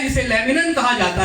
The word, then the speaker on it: laminin: Okay, खून के अंदर एक मॉलिक्यूल पाया जाता है जिसे लेमनिन कहा जाता है।